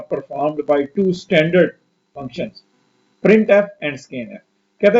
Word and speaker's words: printf: ये printf ये लिखा हुआ है, इसको प्रोनाउंस क्या करते हैं printf और इसको क्या पढ़ते हैं scanf।